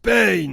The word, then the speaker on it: Pain: Ça se prononce Pain.